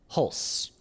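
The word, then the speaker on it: Hulce: yeah, Because like his Tom Hulse's or terrible. Holtzy's like parents are Jason Robards. They're oh wait, I found it. It is Hulse.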